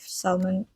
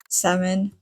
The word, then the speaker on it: salmon: a specific kind of salmon salmon. I know that L is not supposed to be pronounced.